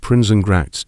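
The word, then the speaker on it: Prinsengracht: So he built an illegal one behind his own business at Princenact 263.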